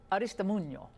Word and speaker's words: Aristimuño: I love saying it, Aristimuño. I like saying it correctly.